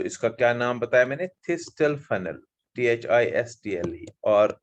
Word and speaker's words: thistle: सो इसका क्या नाम बताया मैंने, थिस्टल फनल, THISTLE, और आप टी को साइलेंट भी रख सकते हो, आप थिस्टल फनल बोल सकते हैं, राइट।